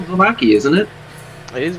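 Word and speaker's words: Vallaki: was very no the lake is close to Baki it that's how we've been pronouncing it this whole time vaki just like the V lake is huge it's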